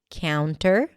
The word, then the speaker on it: counter: But you can actually drop the T here and just say counter. When the T appears after an N in unstressed syllables, it is often dropped. Like in the word internet or wanted or 20.